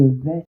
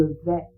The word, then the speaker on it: vais: Toujours est-il que on ne prononce pas le s à la fin. Donc je vais répéter.